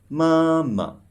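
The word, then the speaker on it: 妈妈: So you should pronounce it softly and shortly. Let's try again this word. Mama.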